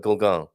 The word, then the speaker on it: Golegã: a So yes, so not quite the full-on Golegã, but Golegã. And the E in the middle is more or less silent. A silent E, silent but deadly E in the middle there.